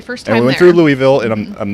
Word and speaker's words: Louisville: was our very first time we went through louisville and i'm i'm not a fan of that that littleville davidsonville louisville yeah you said it wrong louisville louisville louisville